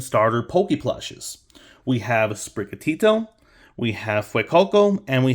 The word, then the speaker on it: Sprigatito: the same word and I want to say sprigatito instead of sprigatido or something like that it's a good name